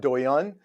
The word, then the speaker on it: Douyin: I think it's pronounced Douyin.